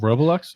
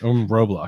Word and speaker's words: Roblox: o l o x there's no second middle o i said r o b l o x you said r-o-b-o-l-o-x that's